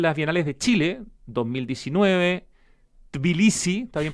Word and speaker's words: Tbilisi: Además de participar en las Bienales de Chile, 2019, Tbilisi, ¿está bien pronunciado? Sí, Tbilisi.